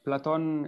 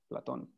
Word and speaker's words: Platon: Oh yes, Platon is actually how his name is pronounced and spelled, Platon.